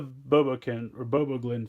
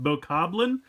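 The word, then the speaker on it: Bokoblin: So, first we'll go with the BoBoGlin first. All right, so I think I just called this thing a BoBoGlin or something. I believe it's pronounced BoCobbling. I always want to say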